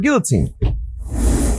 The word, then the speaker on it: guillotine: just go for a guillotine. Yeah, I mean, it's a valid. Guillotine. A guillotine. We pronounce L here in America.